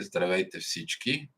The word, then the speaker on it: Здравейте всички: Здравейте всички. That's how it's pronounced, CC.